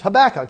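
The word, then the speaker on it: Habakkuk: who know that uh habac is habac that's how you say it and and we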